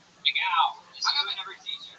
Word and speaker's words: McGough: It's McGow. McGough.